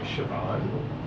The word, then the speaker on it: Siobhan: I dated a girl in high school named Siobhan.